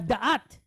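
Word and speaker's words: דעת: Sometimes you'll hear people pronounce it, and they're not wrong. Okay? Dialects, sometimes they won't pronounce it as da'at. They just pronounce it as dat. It's perfectly valid.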